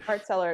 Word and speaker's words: Hart-Celler: Is it am I pronouncing it right? Hart-Celler.